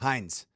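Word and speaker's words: Hynes: Hines. Like the ketchup. Not spelled the same way, but H I N S. It's H Y.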